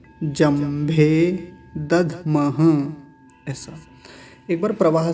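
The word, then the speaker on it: दध्मः: अंतिम शब्द है दधमह, दधमह, धकार आधा है तो जल्दी से उच्चारण होगा, दधमह, दधमह, ऐसा।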